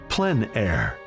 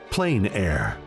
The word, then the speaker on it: plein air: open air or Outdoors the French pronounce it plen air others say plain air no matter how you